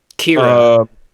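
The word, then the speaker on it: Ciara: Kira. It's spelled Sierra, but they pronounce it Kira.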